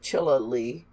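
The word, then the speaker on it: Chinle: of the shin lei which Bert Callen understood Richard to pronounce as chilla Li they spent their fourth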